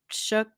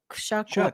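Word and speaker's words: Shough: They drafted a new offensive lineman and drafted uh Tyler uh Shook. Shuck.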